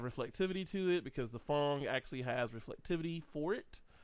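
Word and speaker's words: Phong: It's not Pong, it's Fong.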